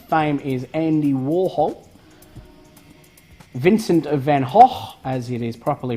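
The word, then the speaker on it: van Gogh: 15 minutes of fame is Andy Warhol Vincent van Hoff as it is properly pronounced he cut off part of his left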